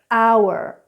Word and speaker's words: hour: I live in France and I have a lot of French students who pronounce this H. So this is for you guys. Honor, hour, honest.